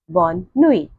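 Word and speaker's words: bonne nuit: will learn the pronunciation so please repeat the pronunciation so our first greeting word is Boni repeat Boni again Boni very good Boni means good night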